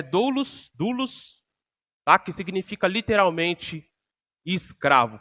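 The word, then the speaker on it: δοῦλος: No grego é doulos, tá? Que significa literalmente escravo. Passa a outra para mim, por favor, Samuca. Então, doulos, no grego, é assim que se lê, que se escreve, e literalmente significa escravo.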